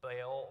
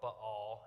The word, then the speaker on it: Baal: And he battled the worship of Baal or Baal, if you're actually saying it the way it's pronounced in the Hebrew Bible, and lies from the